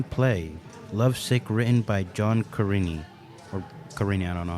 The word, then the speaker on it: Cariani: for the spring play Lovesick, written by John Carini. Or Carini, I don't know how to say it. Cariani.